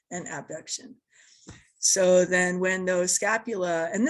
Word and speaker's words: abduction: words a lot, will often say adduction and abduction, just because those words sound so similar, but that's not how you pronounce it. You pronounce it adduction and abduction.